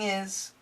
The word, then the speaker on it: his: watching movies and keeping is the faster we say it this H sound can disappear keeping his quickly keeping is keeping is iPod playlist up to